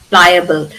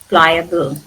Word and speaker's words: pliable: Pliable. Ply. Uh, it's a schwa sound. Pliable.